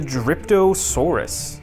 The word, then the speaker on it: Dryptosaurus: Here is, I believe it's pronounced the Dryptosaurus.